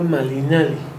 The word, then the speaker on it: Malinali: la la conocimos hoy como Malinch. está mal pronunciado, ¿no? Fue fue errores de de el proceso de de castellanización de del bucablo. Realmente ella se llama Malinali, no fue rebautizada cuando